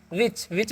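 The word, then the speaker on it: which: तो डब्ल्यू का व आई यहां पर आई डब्ल्यू एच का उच्चारण व करना है। मतलब एच का उच्चारण नहीं करना। यहां पर समझ लेना। ठीक है? आई क्वेश्चन हर्ष और सी एच का क्या हो जाएगा? च तो हो गया व्हिच। इसे हम क्या पढ़ते हैं? विच मतलब क्या होता है?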